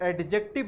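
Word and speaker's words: adjective: pronoun है एडजेक्टिव है इसे एडजेक्टिव नहीं बोलना चाहिए दिस इस एग्जैक्ट यहां पर दी साइलेंट होता है वर्ब उसके बाद है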